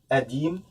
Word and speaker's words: قديم: أديم, and the qaf here is pronounced like Hamza.